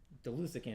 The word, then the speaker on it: Delusican: But it's Delusican. And then once she said that, and I looked at it, I'm like, oh, it's spelled Delusican.